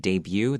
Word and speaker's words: debut: by making one's debut don't forget debut the t is not pronounced so screws he has